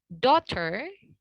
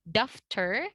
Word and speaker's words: daughter: Nah, hati-hati buat teman-teman yang masih suka bilang daftar. Di sini GH-nya itu tidak diubah ke dalam sound F ya. Tapi kita silent GH-nya dan AU-nya itu seakan-akan kita jadikan O.